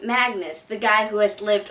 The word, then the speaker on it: Magnus: Originally, I thought the name was pronounced Mangus, so I don't know what happened there. But apparently you say his name as Magnus.